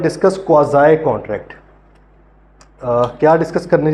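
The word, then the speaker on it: quasi: Chapter 8 है क्वाज़ाई। क्वासी नहीं इसको बोलना, वैसे बोलने को तो चाहे बोल लें, लेकिन क्योंकि पेपर में तो लिखना ही है, लेकिन ऑब्वियसली हमें लीगल टर्म्स का जो सही उसके प्रोनाउंसिएशन है वो हमें सही आनी चाहिए। तो क्वाज़ाई इसको बोला जाता है।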